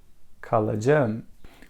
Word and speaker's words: kalacağım: We have key letter. It changed into soft G. Why it happened? Because if vowel letters comes after key letter, it changes into soft G. Kalacağım. We don't say this because it is hard to say. We want to make it easy. Kalacağım. It's more soft.